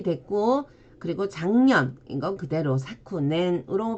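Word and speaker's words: 昨年: 작금 할 때는 사콘 해서 원래는 사쿠인데 뒤에 오는 발음에 의해서 초금이 됐고 그리고 작년 이건 그대로 사쿠넨으로 발음을 해줍니다.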